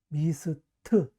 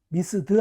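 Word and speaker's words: missed: 두 번째, 무성음일 때는 트로 발음한다. 뭐? 미스트, 미스드 아니에요.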